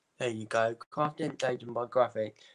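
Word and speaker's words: Grafix: Craftentation by Graphic. There you go. Craftentation by Graphic.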